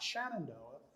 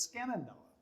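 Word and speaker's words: Skenandoa: was peter skenendoa smith well somebody said well that can't be right it's got to be shannon but no scanindo was a native american chief in new york state and that's who he's named after not shenandoah or shenandoah it's skin and noah but i don't think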